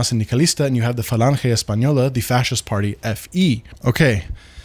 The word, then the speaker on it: Falange Española: part uh take power in Germany called the Falange Española. Again, I'm pronouncing it properly once, and now I will drop the uh uh the pretentious pronunciation S pañola.